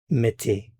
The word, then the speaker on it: mettez: Vous mettez, mettez.